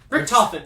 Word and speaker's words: Richthofen: the title or coffin richtofen that's how you say it okay i'm just saying